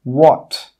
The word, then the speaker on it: what: The letter H is sometimes silent when it comes after a W. Some common examples are in some of the WH question words in English, such as what, when, where, why.